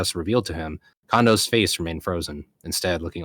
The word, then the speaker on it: Kondo: I believe it's pronounced Kondo because he is Japanese.